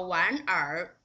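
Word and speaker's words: 玩儿: You cannot just like this 好玩儿 It's not just the 儿化 You need to pronounce this 玩 and 儿 together just like a whole syllable.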